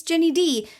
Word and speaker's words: Ginny Di: You can find me on many places on the internet under the username It's Ginny D. D-I, like Princess Di, but pronounced differently because Ginny Di sounds really accusatory.